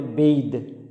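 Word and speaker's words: bathe: আর BATH এর সাথে যদি ই যুক্ত হয় তাহলে সেটা হবে বেইদ, বেইদ অর্থাৎ গোসল করা।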